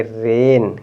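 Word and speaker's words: rain: करेंगे इसको आप पढ़ेंगे रेन क्या है आर ए आई एन अभी बताया ना ए आई को ए पढ़ेंगे क्या पढ़ेंगे ए तो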